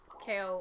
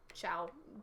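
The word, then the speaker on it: Chao: a secret area in the Dark KO, or Chow, choose your pronunciation, in the Dark Garden.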